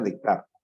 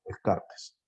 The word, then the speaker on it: Descartes: Se pronuncia Descartes. Nosotros en español, Descartes.